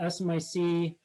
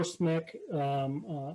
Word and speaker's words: SMIC: china rising so uh smic or smick how some people pronounce it recently blacklisted by the